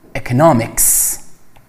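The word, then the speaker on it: economics: اکانومی به معنای اقتصاد، که اشتباه نکنید تلفظش روی در واقع سیلاب دوم هست، یعنی شما میگید اکانومی، در حالی که وقتی میخواید در مورد درس اقتصاد صحبت کنید میگید اکنامیکس، تلفظش فرق میکنه.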